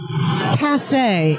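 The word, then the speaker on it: passé: he didn't say obsolete he said passe accent on the e nudity has been rendered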